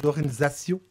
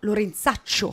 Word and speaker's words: Lorenzaccio: À la française, Lorenzaccio. Non, Lorenzaccio. Lorenzaccio.